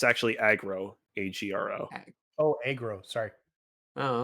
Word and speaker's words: Agro: Hey, its actual name is, I looked this up while Alex was talking, it's actually Agro, A-G-R-O.